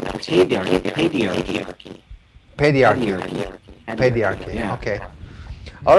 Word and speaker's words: paedarchy: And Mark, how would you pronounce it? I would actually pronounce it pedarchy.